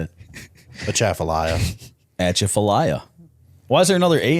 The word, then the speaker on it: Atchafalaya: So I want you to pronounce this bridge name for me. All right. Atchafalaya. Yes, he got it wrong. Yeah, Chipolaya. How do you say it? A Chaffalaya. Atchafalaya.